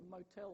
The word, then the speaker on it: motel: has capital letters so motive is stressed on the first syllable motel on the second syllable so you so you